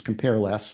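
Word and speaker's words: cmp_less: But, and this is still relatively new, there's now an algorithm in the standard library named CMP less, which I pronounce compare less, but other people have other acronyms for CMP, something multirogramming, multipprocessing, cooperative, cooperative multirogramming.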